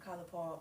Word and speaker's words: College Park: I'm from college park I'm going say it right from y'all for y'all because you know yall not from where I'm from so I'm from College Park I would say colge park but don't worry about